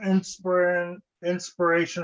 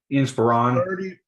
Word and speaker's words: Inspiron: And then Alex, the second one is a Dell Inspiration or whatever, Inspiron. 47. I love how people get that name wrong.